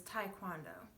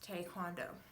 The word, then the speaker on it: Taekwondo: Now, you might have heard Taekwondo being pronounced as Taekwondo, which is incorrect. Anyone who has properly taught it or has learned it will know that it is pronounced Taekwondo.